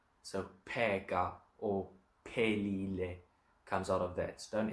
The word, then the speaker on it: phelile: So pega or pelile comes out of that. Don't ever, if you're reading Zulu, don't ever make a P and a H sound like an F.